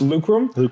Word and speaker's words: Lucrum: appreciate it we pronounce lucum and it's actually just a little play phonetically on the Latin root word for lucrative yes so lucrum l